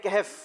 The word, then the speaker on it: کہف: آپ نے کہا سورہ کہف، جبکہ صحیح جواب تھا سورہ کہف. آپ نے جو جواب دیا وہ درست مان لیتے ہیں، 2 نمبر دیے جاتے ہیں. صحیح تلفظ جو ہے وہ سورہ کہف ہے.